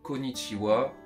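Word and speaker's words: こんにちは: début de l'écriture quoi donc konichiwa ça s'écrit konichiha mais c'est c'est juste faut le savoir c'est tout c'est juste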